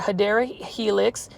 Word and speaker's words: Hedera helix: basket this is another hedra Helix this one is for $16.98 it's an unnamed hedra helix or hadera Helix which is the correct way to say English ivy love that